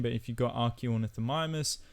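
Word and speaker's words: Archaeornithomimus: but if you've got archaeanethomimus not only has it got it broken down to r key or nyth mimers you can also hear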